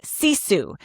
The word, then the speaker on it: sisu: It is a Finnish word called CISU. It's spelled s i su if you're listening and want to be able to picture it in your head like I do.